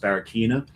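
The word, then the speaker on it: Barraquiña: I believe it's pronounced Barraquina.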